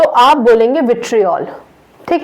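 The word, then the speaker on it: vitriol: Ferrous sulphate को green विट्रियोल के नाम से भी जानते हैं। इसको, जिसको मैं विट्रियोल कह रही हूँ, उसका करेक्ट प्रोनाउंसिएशन विट्रियल होता है।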